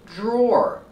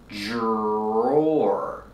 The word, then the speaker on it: drawer: this nightstand has one drawer pronunciation the Dr makes a sound with a voice like juice and Jump Plus the r j and the or like floor and more put it together drawer drawer this is a drawer